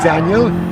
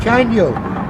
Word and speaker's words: Caniel: His name's not Daniel, his name is Caniel.